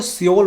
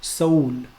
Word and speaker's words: Seoul: हम लोग अक्सर इंडिया में मैंने सुना लोगों को सियोल बोलते हैं लोग, सियोल, और इंग्लिश मीडिया में भी अक्सर सियोल ही लोग बोलते हैं, लेकिन the real name of the city, the capital of Korea is सोल, नॉट सियोल.